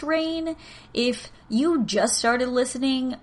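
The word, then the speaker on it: Rayne: again to rain louisiana it is r-a-y-n-e so i think it's pronounced rain if you just started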